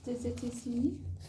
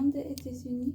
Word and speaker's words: des États-Unis: Des États-Unis. Essaye de faire une phrase. Je viens des États-Unis. Voilà. Alors, t'as toujours du mal sur le des États-Unis. On n'entend pas des États-Unis. Des États-Unis.